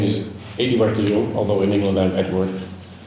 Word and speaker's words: Eduard: So my name is Adio although in England I'm Edward easier to pronounce.